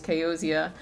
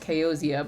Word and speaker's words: Kaoza: So you might hear me interchangeably say, my name is Kaoza, my name is Kaozia, because like, I see this as Kaoza, the name, but like it's pronounced Kaozia.